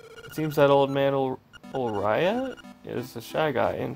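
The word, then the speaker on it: Ulrira: It seems that old man Ulraya is the shy guy in person. What's it? Wait, how do you say his name? Hold on. Ulraira.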